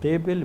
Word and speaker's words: دیبل: Doctor صاحب یہ دابل ہے یا دیبل ہے؟ ذرا تلفظ بتا. کی طرف سے دیبل پڑھتے ہیں زیادہ.